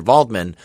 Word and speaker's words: Waldman: him to go meet Dr vman or spelled Dr Waldman it's spelled with a W but they call him Dr this whole time yeah